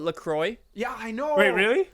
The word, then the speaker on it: LaCroix: this look you know it's not lacroix you know people in the us call it lacroix yeah i know wait